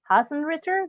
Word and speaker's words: Haasenritter: coach and today i am here with hussein richard do i pronounce that correct you did you get five